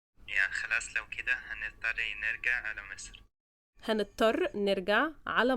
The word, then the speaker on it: نرجع: نرجع, not نرجع. Okay. نرجع. Yes. Okay. Now that's the missing Egyptian ingredient. Okay. Can you say it one more time? Yeah, خلاص لو كده هنضطر نرجع على مصر.